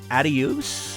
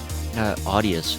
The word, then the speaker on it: Audius: And some even suggested using a service called Adios. Is that how you pronounce it? Audius.